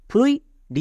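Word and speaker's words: fluid: Next আরেকটি word দেখো, ফ্লুইড, এফ এল ফুয়েলো, ইউ আই এর জন্য উই মানে ফুয়েলো প্লাস উই, ফ্লুই ডি এর জন্য ডো ফ্লুইড।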